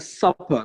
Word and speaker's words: supper: good super suppose so this is pronounced a supper because it has you know super it only has one P so super only has one P but software has TT TT will be supper supper yeah so last main